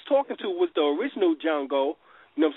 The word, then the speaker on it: Django: n g o and the D is silent you know what I'm saying and and that's who he and that's who he was talking to was the original jungo you know I'm saying